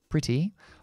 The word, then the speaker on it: pretty: pero también es bastante, podemos pronunciar la true T, la T verdadera, verdadera, y decir pretty, o podemos convertirlo en